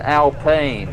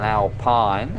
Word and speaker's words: Alpine: rental and i'm told this is an alpene rather than an alpine even though it's spelled alpine i guess it's the french pronunciation uh apparently you're not